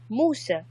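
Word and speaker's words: موسى: you see facing Moses how do you say Moses Moosa Moosa yes yes like that or is it like I'm doing the English words was that house pronounced no not to motive more said no mo SSA it's no sir Arabic yes with a not to eat yes so no so this is an Arabic Moosa this means dumpster jump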